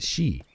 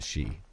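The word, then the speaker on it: Sidhe: It's pronounced the She, although it's spelled like S-I-D-H-E or something, but it's pronounced the She, which I think is kind of cool in and of itself.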